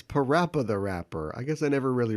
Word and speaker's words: PaRappa the Rapper: different languages too so so it's PaRappa the Rapper I guess I never really read it that closely I always thought it was Papa rapper the rapper yeah it's PaRappa the